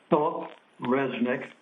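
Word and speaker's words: Phillip Resnick: Will you tell us your name in a loud voice so that we can all hear you and spell it for the record? Philip Resnik.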